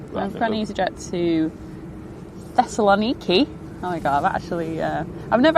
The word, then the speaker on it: Thessaloniki: I've got an EasyJet to Thessaloniki.